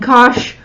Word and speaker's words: cosh: and so forth now these two we pronounced cinch and cosh I don't know that